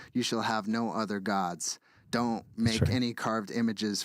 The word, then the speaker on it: Gad: god of Fortune his name is God In God We Trust is on your dollar bill g a d which is pronounced God is the god it's the um